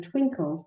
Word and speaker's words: Twinkl: And if you search on Twinkle, there are so many. So it's spelled Twinkl.